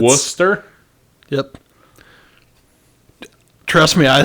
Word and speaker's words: Worcester: or what mm-hmm um but it's Worcester that's that's how that's the name of the town John that's missing a lot of syllables I'm telling you man it's Worcester yep trust me I